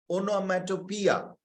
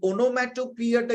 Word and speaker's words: onomatopoeia: সবাই লেখো এটা, ওনোম্যাটোপিয়া। অনেকে এটার উচ্চারণ এখানে দেওয়া আছে ওনোম্যাটোপিয়া, এখানে আমি দিয়ে দিয়েছি উচ্চারণ কি রকম হবে। So please, ওনোম্যাটোপিয়া। এই ওনোম্যাটোপিয়াটা কি?